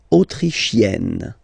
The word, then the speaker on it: autrichienne: L'Autriche, autrichien, autrichienne. So same thing here. You get E and then double N. You open the E. Autrichienne.